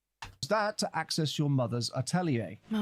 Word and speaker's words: atelier: Um a weird weird weird moment. a really really strange strange pronunciation.